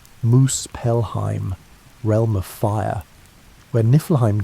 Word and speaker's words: Muspelheim: To the south lay Muspelheim, pronounced Moose Pelheim, realm of fire, where Niflheim dripped with frozen venom and endless winter.